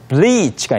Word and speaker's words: bleach: 그리고 마지막으로 bleach가 있는데요. 브릿지 아닙니다. bleach라고 이렇게 길게 발음해 주셔야 탈색하다라는 말도 됩니다.